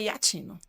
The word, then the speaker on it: Iaccino: É Iacino, como você mencionou agora, ou é Iatino? Então, você escreve Iacino, né? IACCINO, mas a pronúncia é Iatino.